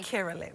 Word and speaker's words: Akerele: And how do I say your last name correctly? Akerele.